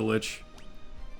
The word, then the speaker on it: Lich: who cares um Nukem Lich rhymes with snitch glitch